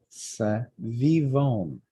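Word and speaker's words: סביבון: Savivon. Just take it one syllable at a time.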